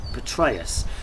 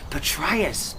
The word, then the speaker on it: Petraeus: new general is named Petrus Petraeus Petraeus betrayus betrus yeah this rhymes with betrayus another coincidence don't say